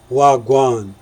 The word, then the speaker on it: wha gwaan: Canadian colleague asked me how to properly say wha gwaan and so I explained to her the proper Jamaican three silver pronunciation wagwan in 2019 an Indian